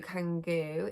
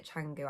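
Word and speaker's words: Canggu: like like seminyak to kangu is like i think you say changu actually didn't you yeah changing so seminar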